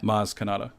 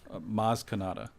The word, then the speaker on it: Maz Kanata: she remembers that kaz kaz kazmi kazma okay mars canada maz canada you had all the right letters phonetically it sounded like a star wars name